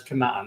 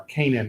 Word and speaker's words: Canaan: moment we're going to refer to it as cannot nor Canaan if you want the English pronunciation alright let's do a